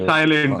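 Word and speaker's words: psi: साय म्हणायचं, साय. ठीक आहे. पी हा सायलेंट आहे, एस आय त्याचं स्पेलिंग आहे.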